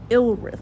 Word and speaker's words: Ilryth: Ilrith. That's his name. It's spelled Ilryth.